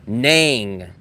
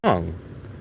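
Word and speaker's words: Nẵng: And every local I've ever asked, they say, no, it's not Nang. I say, is it Nang or Nong? And they say, Nong. And I say, rhymes with Hong Kong, right?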